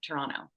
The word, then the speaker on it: Toronto: The T is silent, Toronto.